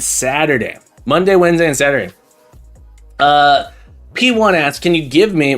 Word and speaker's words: P1: It's P1. Oh, it's P1. It's P1. The P1. All right, let's try it. The P. Hang on. P. Have you met P1? It's not pronounced Paiwan. It is P1.